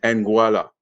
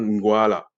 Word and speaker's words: Nguala: Il y en a en français, ils vont dire Nguala. Mais le vrai prononciation, Nguala.